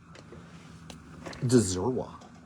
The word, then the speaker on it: Dzirwa: Dzirwa. Sure. That's how you say it.